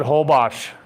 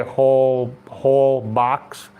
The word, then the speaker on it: Holbox: Yeah, just the X is like shh.